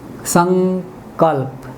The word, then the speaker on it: संकल्प: क लिख के देखा, मैंने लिखा संकल्प, तो ये अनुस्वार, इसका उच्चारण ङ हुआ। संकल्प, संकल्प।